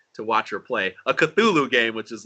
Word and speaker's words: Cthulhu: it's very weird it's there's a like an l in there that you wouldn't think is there it's cluel which it just doesn't